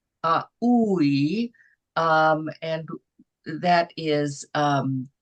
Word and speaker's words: aUI: It's AUI. It's AUI. Uh the the vowels are pronounced uh separately, and uh the capitals are pronounced longer, are held longer. Uh AUI.